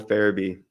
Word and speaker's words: Farabee: Joel Farabee.